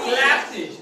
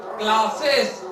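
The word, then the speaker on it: classes: की बात छोड़ दो, वो बोलते हैं सेस, क्लासेस, ठीक है, डांसेस, ये होता ही नहीं है, ग्लासेस, ये होता ही नहीं है। यहाँ क्या बोलना है, इज, ग्लासेज, बस, बसीज, ये सही प्रोनाउंसिएशन है, ठीक है।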